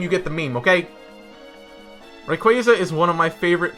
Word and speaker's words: Rayquaza: number one right quiet and okay it's actually pronounced requested but sometimes if you get that meme you get the meme okay rayquaza is one of my favorite pokemon emerald was